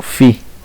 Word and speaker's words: phi: Esto se lee así, ángulo phi, ¿sí? Se escribe PHI pero se lee phi, ¿sí?